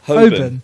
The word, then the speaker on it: Holborn: Holborn.